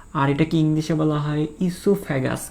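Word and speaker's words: oesophagus: তো এটাকে ইসোফ্যাগাসও বলা হয়, মানে ও একটা ওটা উচ্চারণ হয় না আর কি, নর্মালি এটাকে ইসোফ্যাগাস বলা হয়।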